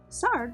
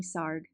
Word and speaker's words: Sarg: sarf 1880 to 1942 sard rhymes with art every little movement has a meaning of its own Tony sarg from the time he